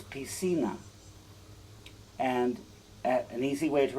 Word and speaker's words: piscina: sina it's spelled p-i-s-c-i-n-a which looks like piskina except for whenever a c become comes before an iron e it's an s sound in spanish so it's p cena and an easy way